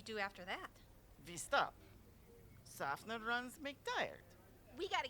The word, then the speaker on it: Tsafnur: But she's your Softig buddy. Honey, it's pronounced Tsafnur. If you're gonna be here for this, try to say it correctly.